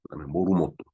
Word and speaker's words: モルモット: 뭘 모터라고 얘기를 하죠 뭘로 모르모트 일본 발음으로 의미이 날에 의미에